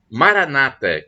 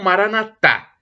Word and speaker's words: Maranata: E temos ainda do aramaico, dialeto de Jesus, a expressão Maranata, com a tônica na penúltima sílaba, como dizem os protestantes, ou Maranatá, com a tônica na última sílaba, como dizem nós católicos.